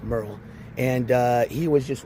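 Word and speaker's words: Meryl: It's spelled it's pronounced Merl, but spelled like Merurl Street. So I think M E R Y L, but pronounced Merl.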